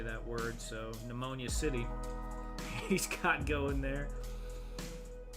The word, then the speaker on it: pneumonia: Well, the P is silent in pneumonia too, right?